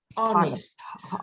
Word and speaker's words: honest: situation what happened right another difficult word honest we don't honest we don't pronounce the h okay some words we